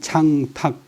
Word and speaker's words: 창탁: 때는 8초까지만 이야기하고 족제인 창탁 탁은 목탁탁 본래는 택이 아니고 탁인데 옛날 서울시장 뭐 양탁식인데 뭐 사람들이 양택식 해버리고 뭐 양택식이 돼버렸어요.